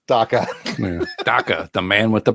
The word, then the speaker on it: Daka: One man, 2 syllables. Daka.